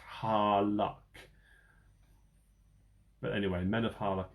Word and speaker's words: Harlech: But a quick Google search tells me that it looks like it's pronounced Harlech.